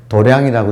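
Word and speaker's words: 道場: 자, 이 간단한 마음 공부의 원리를 딱 한마디로 말하면 이건데, 근데 이제 실천하기는 매 순간순간 삶이 도장이 되는, 도장이라고 쓰고 발음을 도량이라고 읽지요.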